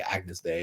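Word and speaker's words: Agnus Dei: And then we did this production arrangement of Agnes Day, which apparently is how you say Agnes Day, Holy is the Lamb, whatever.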